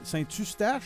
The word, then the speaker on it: Saint-Eustache: Saint-Eustache. Ou comme ils le prononcent eux-mêmes, Saint-Eustache. Saint-Eustache.